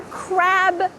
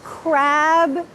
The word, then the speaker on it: crab: A crab pinched me. A crab pinched me. Make sure that there is a clear B sound here.